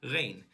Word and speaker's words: Ren: No, I'm just gonna say it as it's pronounced in northern part of Europe, REN.